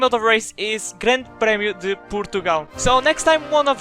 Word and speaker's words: Grande Prémio de Portugal: And the name of the race is Grande Prémio de Portugal. So next time one of you is saying the name wrong, you don't have any excuses now because you had this lesson.